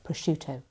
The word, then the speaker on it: prosciutto: But the I that comes after the C softens the SC to be a sh sound, not a sk sound. So it's prosciutto.